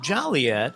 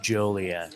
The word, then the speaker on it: Joliet: where the woman said, even though it looks like Joliet and people are very jolly here, Yeah. it's pronounced Joliet.